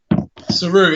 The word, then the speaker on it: Seru: As we speak, we're here with a man, Seru. Is that how you say it? Seru, yeah, that's how you say it, man.